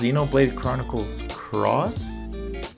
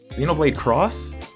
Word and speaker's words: Xenoblade Chronicles X: Also, is it pronounced Xenoblade Chronicles Cross? It's X, right? No, it's Cross, because the main character is Cross. Cross? X? Xenoblade Cross?